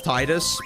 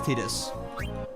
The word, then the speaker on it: Tidus: I used to pronounce it as Tidus, but I was told from the beginning to pronounce it as Tidus.